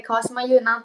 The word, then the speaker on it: 川島夕奈: 夕に奈良県の名で川島優奈って読みます。